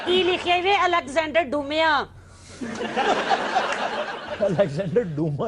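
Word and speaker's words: Dumas: है बहुत बड़ा राइटर ये डूमा वही है जो डुमास भी कहते हैं जिसको ये बेसिकली डूमा ही है लेकिन डुमास कहा जाता है दोनों दुरुस्त है और यह लिबान टेक्सस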